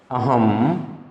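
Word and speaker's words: अहम्: उत्तम पुरुष एक तो होता है अहम, इसको अहम बोलते हैं।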